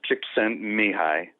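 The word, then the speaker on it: Csikszentmihalyi: let's say it again dr mihai it's actually pronounced chick sent me high it's a rough one it's a rough one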